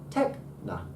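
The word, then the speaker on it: τέκνα: But it is supposed to be up and then down. Techna.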